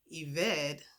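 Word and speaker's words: עֶבֶד: The noun form, pronounced eved, means slave or servant, as one who works, labors, or serves.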